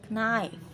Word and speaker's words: knight: fights six taxi now the letter k is silent in a few words egg no knee knight listen and say this